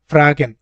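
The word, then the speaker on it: fragen: এটাকে ডজে বলে আমাদের ফ্রাগেন ফ্রাগেন কি বললাম উচ্চারণটা আমি ফ্রাগেন ওকে তারপর এবাউট যেটা আছে এটাকে বলে নাক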